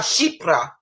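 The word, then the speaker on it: chypre: This is, Chipra.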